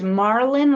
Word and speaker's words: Marlon: It is Marlon, like pronounced like in Marlon Brando.